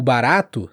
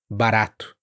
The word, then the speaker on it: barato: Assim, o barato também não é barato, é barato de forma forte, esse R mais duro, como a gente diz, quase como um D rápido no inglês, barato.